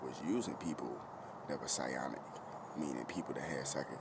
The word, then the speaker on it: psionic: See, um I am what you would call s whatsic or psyionic I think or psionic. Psionic. My bad. It's psyionic. Excuse me. I got the words uh I pronounced it wrong. is psionic.